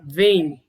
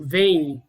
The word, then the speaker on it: vem: Então, por exemplo, na palavra vem, que é uma sílaba única, a letra M ela tem um som de I, um I fonético, vem.